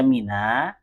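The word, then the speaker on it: مِنَ: Kemudian di sini Mina dibaca Mina ini karena kaidah sukun ketemu su sukun. Kalau kita baca min kemudian masuk ke albait bisa enggak? Enggak bisa kan? Jadi min ini kan al begitu bacanya kan. Nah jadi sukun ketemu su sukun lah. Untuk memudahkan dibaca min dikasih harakat fat fathah.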